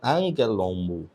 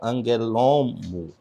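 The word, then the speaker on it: ἀγγέλων: Então, a pronúncia é angue, anguelon, né? Ton anguelon. E não anguelon.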